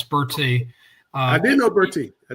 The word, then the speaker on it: Bertie: They say Bertie. No, it's Bertie.